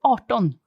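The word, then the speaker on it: arton: um they have to it's changed to art on art on so how do you spell that a r t ah right okay so it's still quite a long vowel but it's not uh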